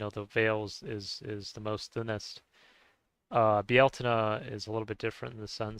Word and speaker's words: Bealtaine: 15th, so Beltane or Bealtaine. Bealtaine is another way to say it. Bealtaine is It's funny because Bieltana is almost like how you would pronounce it in Spanish, really.